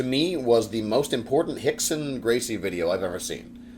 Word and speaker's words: Rickson: not familiar with um the way that portuguese is pronounced so hixson uh here we go